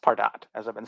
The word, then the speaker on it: Pardot: for more information so let's look at some pardot history first i want to start off the bat by saying that pardot is pronounced pardot as i've been saying several times i know